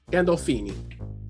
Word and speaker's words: Gandolfini: Gandolfini.